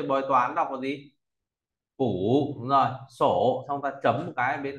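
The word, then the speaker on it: 卜: ta có bộ bốc nói về bói toán đọc là gì phủ đúng rồi rồi sổ xong ta chấm một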